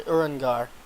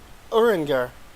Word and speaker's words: Urianger: Abby said it's actually pronounced in a French way XD.